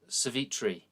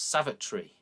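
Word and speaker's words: Savitri: india and it's like well how do i pronounce this you know so there's the story of um uh cevitri you know and i always thought oh it's savagery and it's not it's it's uh it is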